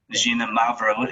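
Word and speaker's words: Xinomavro: is another one that's kind of hard to pronounce gina mavro is how you say that um and that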